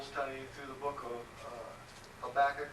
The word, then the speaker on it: Habakkuk: I taught a Bible study through the book of Habakkuk, or properly pronounced Habakkuk, on Tuesday nights.